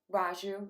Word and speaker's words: Reiju: I will say something about the Reiju blessing. Is that how you pronounce it? Reiju, yeah.